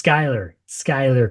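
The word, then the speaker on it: Schuyler: It's Skylar Croom. Although it really looks like Schuler Sky Croom.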